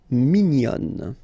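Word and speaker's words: mignonne: And then another example min will become minion. Okay. Same thing here. Nazal min. And then when you put the feminine form minion.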